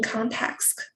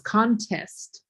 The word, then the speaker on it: context: We have that word is pronounced context. Context. Yeah, what you said was contest, right? And that's an S, and that's like, a contest, like a, drawing, like a winning of something.